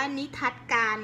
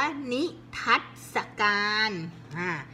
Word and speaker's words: นิทรรศการ: นิทรรศการ ไม่ อ่าน ว่า นิ ทัศ การ นะ คะ อ่าน ว่า นิทรรศการ นิทรรศการ ชำนิ ก็ ปิด ไม่ หมด อ่ะ อยู่ หอ อัง อ.